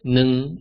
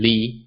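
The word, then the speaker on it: 二: Likewise, this is the same for the digit 2, where it's pronounced as nung in some situations and li in other situations.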